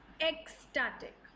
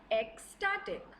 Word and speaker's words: ecstatic: your interviewer very impressed x-static yes that's how you pronounce it repeat it with me once more x-static what does this word